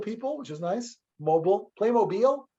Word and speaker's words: Playmobil: Playmobil or mobile? How do you say that? Playmobil. Yeah, Playmobil. Mobile.